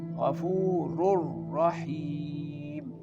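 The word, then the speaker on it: غفور رحيم: Very clearly you can see that here that tanwin which is double dammah merging with the next letter which is ra and giving the sound ghafurur rahim. Ghafurur rahim.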